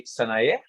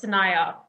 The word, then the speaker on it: Sanaya: You were very close. It's Sanaya, but to be fair, I think I mispronounced it as well, so it's fine.